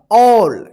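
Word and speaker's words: all: यहां पे हम ए डबल एल, इसको क्या पढ़ा जाएगा, ऑल। यहां पे देखिए ए का औ उच्चारण हो रहा है।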